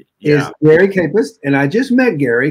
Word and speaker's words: Kajpust: is is jerry post that's actually a campus yeah that's a j is silent it's a silent day yeah mary campus and i just met